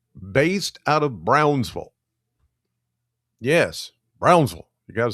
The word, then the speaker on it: Brownsville: Yes, Brownsville. You got to say it like that. If somebody says Brownsville, they're not from around here. You got to say Brownsville. up there in Edmonson County.